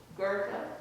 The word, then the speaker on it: Goethe: Goethe.